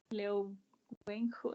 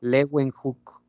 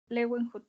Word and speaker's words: Leeuwenhoek: Ay, la verdad, profe, no puedo pronunciar bien los nombres, pero... No hay De problema. Leo Wenhu, ¿no? ¿Cómo? Bueno, Es Leeuwenhoek. Leeuwenhoek, ok.